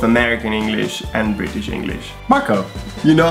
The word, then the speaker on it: Marco: It's Marco. Marco. Marco. And this is how I learned my pronunciation. Mar correctly. So rolling the R in Italian is extremely important. Every time there's an R, it's an R.